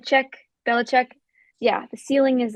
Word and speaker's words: Belichick: The ceiling is the roof with Belichick. How do you say his name? Yeah, that's right. Belichick.